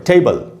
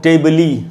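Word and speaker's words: table: इसको हम टेबली या टेबले ऐसे तो नहीं बोलते, हम बोलते हैं टेबल।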